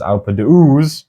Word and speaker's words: Alpe d'Huez: Take off the H. Alpe d'Huez.